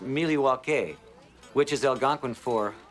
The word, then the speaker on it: Milwaukee: Charlotte North Carolina open the bar mov to Milwaukee open the bar actually it's pronounced milwa which is El gonin for the good land